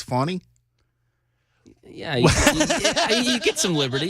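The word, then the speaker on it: Fani: you go with Fanny but I know it's pronounced funny is it wait wait when you do a newscast and you're talking about that story you call her or Fanny even though her name's fonny yeah you get some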